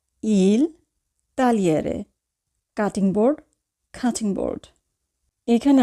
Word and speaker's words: tagliere: তো এখানে উচ্চারণ হবে লি অর্থাৎ জি উজ্জ থাকবে, GLE এর উচ্চারণ হবে শুধু লি।